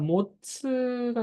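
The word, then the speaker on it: 持つ: 그러니까 앞에 하고 싶은 말 쭉 하고 토 이유라고 하면은 라고 하는 그런 라고 하는 뭔가를 자, 모츠가 나왔습니다.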